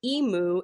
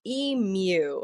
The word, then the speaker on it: emu: the ruling is that Emu is acceptable. Now, the OED pronunciation favors Emu. Okay. a little bit of a Y sound in there. And there was a very